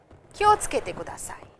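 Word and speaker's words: 気をつけてください: It is pronounced and said as kyo tsukete kudasai. Simply kyo tsukete kudasai, very, very fast, but it is written as kyo tsukete kudasai.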